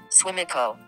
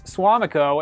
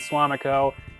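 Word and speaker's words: Suamico: how siri pronounces swamiko swimiko oh no let's try it again swimming so it's swamiko as far as i'm concerned so we have howard and swamiko not swimico swimaco kind of sounds like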